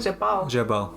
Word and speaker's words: Jabal: Is it correct pronunciation? Jabal.